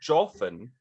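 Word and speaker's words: Joughin: probably butchered the name i've always said joffin because it's spelled the way that you say like coughing minus the g let's go with that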